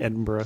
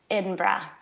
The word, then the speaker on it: Edinburgh: of the city okay well my Scottish accent is pretty abysmal but in breath okay so you're not saying Edinburg at GH is pretty silent